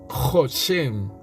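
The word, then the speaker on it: חוזה: 2374 qué quiere decir jose jose si se pronuncia así y se escribe o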